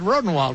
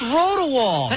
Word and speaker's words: Rodewald: rough ride to Rodenwald, right? Yeah, but you got to say my name. I happen to have right here. You got to say my freaking name right. It's Rodewald.